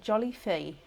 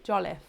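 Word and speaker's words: Jolliffe: i don't want to oh jolly oh with silent e jolith keely jollif hopefully that's correct um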